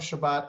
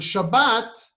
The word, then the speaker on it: Shabbat: just with a t there is really no th sound in modern hebrew so therefore shabbat turned